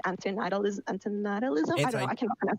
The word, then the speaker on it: antinatalism: Like antinatalism. I don't know. I cannot pronounce it. Anti-natalism is how it's commonly pronounced, but I'll go ahead and start, I suppose.